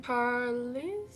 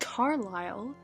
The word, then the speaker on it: Carlisle: It only occurred to me as I was like 10 chapters into this book that perhaps it could be pronounced Carlisle. Isle like an island?